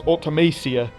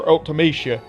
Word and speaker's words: Ultimecia: For many years I thought this character's name was Ultimecia, and that's exactly what the majority of people call her to this very day. However, she appeared in Dissidia, and the characters in that game called her Ultimecia, making that pronunciation the official way to say her name.